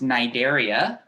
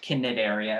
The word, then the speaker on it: Cnidaria: nigeria yes that's pronounced nigeria not kinnit area or anything c is silent i'll do it on